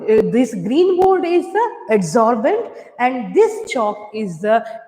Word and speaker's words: adsorbent: Adsorbent, it pronunciated as the solvent, right? The ENT is common in the spellings as well in their pronunciation also.